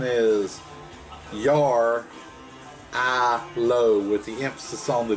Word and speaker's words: Jarrylo: the your Aloha it's a Russian word the pronunciation is your I low with the emphasis on the letter on to